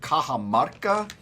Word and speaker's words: Cajamarca: This morning we're enjoying a coffee from Peru called Cajamarca. And I'm looking at the bag. That's how you say that. That's how you say it, not whatever the hell you said, Mark.